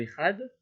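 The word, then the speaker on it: אחד: Wilvat Shiloh Echatov Bechet, il faut absolument donc faire ça, il faut absolument allonger le Echad. Et surtout, il faut pas, il faut certainement pas enlever le chet, c'est-à-dire qu'il faut bien prononcer le chet.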